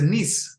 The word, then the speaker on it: Nice: you pronounce the place is it nisse or nice uh it's a niece niece niece all right I'm gonna